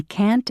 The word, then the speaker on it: can't: Notice how the T in can't and shouldn't is not strongly pronounced.